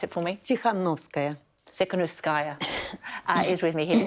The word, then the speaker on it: Tsikhanouskaya: And Sviatlana pronounce it for me. Tsikhanouskaya.